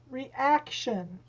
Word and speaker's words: reaction: okay the next one two reaction reaction it's the second the second syllable over the ac reaction okay three conversation conversations